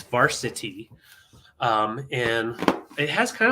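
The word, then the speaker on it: Varcity: made by made by Varsity uh yeah just varsity is the name of the company and they spell it v-a-r-c-i-t-y weird yeah it's a weird spelling but it's Varsity um and it has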